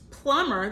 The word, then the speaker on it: plumb: frowning okay so for plumber that should be pull um there goes X and B with a silent B plumb oh okay you